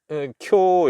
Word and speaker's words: 今日: 오늘음 예 금일 오늘 쿄 이럽니다 쿄 예 장모음 이죠 쿄 예 그거를 갖다가 우라고 하면 안 되죠 예 그 요음 예 요음 뒤에 오는 우는음 장먼 표시입니다 예 그래서 쿄 예 쿄음 오사카에서 태어난